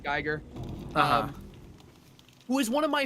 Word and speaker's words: Giger: Geiger, or Giger, however you say his name. I've always said Geiger.